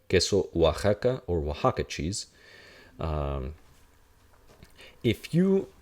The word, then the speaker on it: Oaxaca: The O does it as well under one particular example. If it's before an A. So in Mexico, there is a state spelled like this. This is Oaxaca.